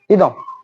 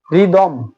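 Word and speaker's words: rhythm: টা উচ্চারিত হবে না রিদম রিদম রাইট তাহলে দেখুন রাইম এবং রিদম তাহলে আর এর পরে এইচ হলে এইচ টা উচ্চারিত হচ্ছে না তারপরে দেখুন আর এর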